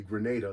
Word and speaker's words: Grenada: the way down to Grenada that's how they pronounce it locally Grenada like hand grenade um and then we